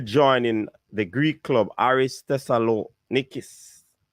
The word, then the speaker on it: Thessalonikis: the greek club aries tessa lo nicus that that's the pronunciation i'm giving you it might be different in the greek language however it's a greek club artis thessalonikis all right and it's